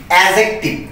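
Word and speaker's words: adjective: এই যে মাঝখানে যে ডি আছে, এই ডি এর উচ্চারণটা হবে না।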